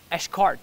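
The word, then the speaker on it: Xcaret: section of it it's called uh it's it's pronounced eschkart uh and it's it's spelled a x-c-a-r-t-e i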